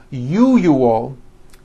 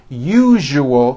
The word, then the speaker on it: usual: are very very common if you are someone that pronounces the word usual as you you all i'm telling you you are not being understood let me show you how to pronounce the word usual correctly break it up into three syllables you jus that second syllable jew the one with the underline needs to be voiced put your hand on